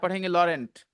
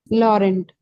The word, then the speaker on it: Laurent: n nice l a r e n t Laurent Laurent Builder he's divorced my grandson Lauren is only